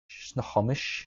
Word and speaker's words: Snohomish: How do you pronounce this? Mm-hmm. Snohomish. Snohomish.